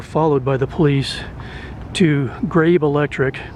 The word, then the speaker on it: Grabe: by the police to Grabe Electric. I'm going to pronounce it Grabe. It's G-R-A-B-E. Maybe it's Grabby, but Grabe Electric.